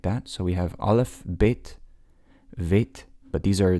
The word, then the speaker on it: Alef: Alef is how you pronounce that. And this is the first letter. It's typically silent unless it's given a vowel.